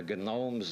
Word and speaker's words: gnomes: the Gnomes of zoric he liked to pronounce the G most Americans don't the Gnomes of zoric they are